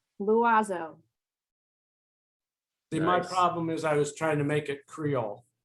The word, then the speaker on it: l'oiseau: L'oiseau. It means the bird. L'oiseau. L'oiseau.